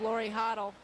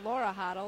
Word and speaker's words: Laura Hoddle: Coming in will be number 12, Lori Hoddle. I should say Laura Hoddle. It's not Lori. Give her the correct pronunciation.